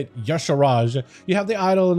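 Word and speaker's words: Y'Shaarj: Yasharaj, you have the idol in a Zoth, idol Yakaron, and idol Cathun.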